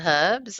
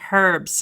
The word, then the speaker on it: herbs: In England, you pronounce the H, so it's Saffron and Herbs, huh? Oh, yes, we do. We do pronounce the H. It's not silent in the UK, but I love the fact that, the Americans say herbs.